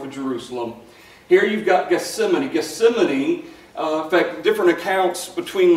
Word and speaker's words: Gethsemane: So that's what Gethsemane, in fact, it's actually pronounced Gethsemane. Never heard of it that way. We say Gethsemane, but it's Gethsemane.